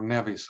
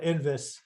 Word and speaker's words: NVIS: Uh NVIS or or Nevis. I I don't know how how all you want to pronounce that. Maybe I'll call it NVIS because we call it Envis. Envis. Yes. Okay. I'll call it Envis if that's you know what people are most used to.